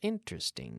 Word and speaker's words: interesting: this is getting interesting interesting three syllables interesting this is getting interesting